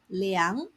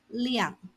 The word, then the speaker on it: 量: When pronounced as 量 , second tone, it means to measure. When pronounced as 量 , fourth tone, it means quantity, capacity, or amount.